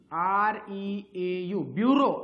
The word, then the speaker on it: bureau: Spelling बघा, ब्युरो BUREAU, ब्युरो असं वाचायचं, ब्युरो BUREAU.